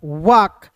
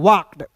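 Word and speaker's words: walked: एल के इसे पढ़ेंगे वाक और ई डी है तो इसे पढ़ेंगे वाक्ड। अब देखिए यहां पे व्क नहीं पढ़ते हैं। व्क नहीं बहुत लोग व्क पढ़ लेने की देगा।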